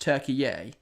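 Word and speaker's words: Türkiye: no turkey yes so is it am I right in thinking that turkey of asked to pronounced turkey yay is that correct if so I'll I I will happily pronounce it as such I'm just saying what I'm used to uh used to pronouncing of course but I think when I've seen it on the official broadcast it has been turkey yay so if this if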